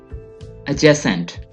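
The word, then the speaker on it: adjacent: एडजेसेंट, एडजेसेंट। डी इसमें completely silent है, आपने डी को बिल्कुल भी नहीं पढ़ना है।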